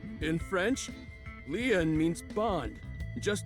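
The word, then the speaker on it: Lien: My name Lean is spelled L I E N. In French, Leon means bond, just like Kisuna means bond in Japanese.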